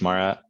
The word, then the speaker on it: Moira: em oh I RA what why is it pronounced Maura is that like a Gaelic thing er I